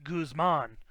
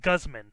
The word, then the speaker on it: Guzman: be wrong there and i've always heard it pronounced guzman not Gusman like does like guzzoline something but goos Guzman yeah so I told Matt that like Matt its Guzman not Gusman there's no way to Kussman there can't be